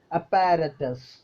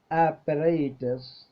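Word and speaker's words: apparatus: ഓരോ വാക്കുകൾ നമ്മൾ ഉച്ചരിക്കുന്നതാണ് ഞാൻ ആദ്യം പറയുന്നത് കേട്ടോ അപ്പാരറ്റസ് നമ്മൾ ഉച്ചരിക്കുന്നതാണ് എല്ലാവരും ഉച്ചരിക്കുന്നതാണ് നമ്മൾ എല്ലാവരും ഉച്ചരിക്കുന്ന ഒരു വാക്കാണ് അപ്പാരറ്റസ് ശരിക്കും അതിന്റെ ഉച്ചാരണം അങ്ങനെയല്ല കേട്ടോ എങ്ങനെയാണ് ഉച്ചാരണം അപ്പറേറ്റസ് അപ്പറൈറ്റസ് അപ്പ എന്നതിന് ശബ്ദം കൂടുതൽ ഡബിൾ പ്രൊനൗൺസ് കൊടുക്കേണ്ട ആവശ്യമില്ല അപ്പറേറ്റസ് അപ്പറേറ്റസ് ഓക്കേ സെക്കൻഡ് വേർഡ് നോക്കൂ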